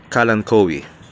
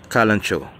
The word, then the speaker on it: kalanchoe: If you prefer American English, it is pronounced as kalanchoe. While if you prefer the British English, it is called simply as kalanchoe or kalanchoe.